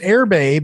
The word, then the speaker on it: Erbe: the way you spell this now is it's pronounced airbay but it's spelled w e-r-b-e-w-e a t